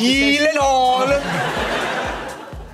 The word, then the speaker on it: Gyllenhaal: So shouldn't it be like Gyllenhaal? Oh my God. I have Gyllenhaal. The only two places that is pronounced correctly, my last name like you did just now, is in Sweden and in IKEA.